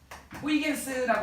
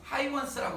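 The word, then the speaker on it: Huygens: 호이겐스라고 하는 유명한 사람이 있어요. 이게 이제 영어식으로 발음이 바뀌다 보니까 호이원스라고, 하이원스라고 이름이 바뀌었는데, 여러분들 이름 알아주세요. 똑같은 사람이다. 하이원스라고 어떤 지금 표현이 돼 있다. 호이겐스, 하이원스 이렇게 돼 있죠.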